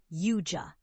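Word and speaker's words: Yautja: battle deadly alien hunters known as Yaoja, pronounced Yua.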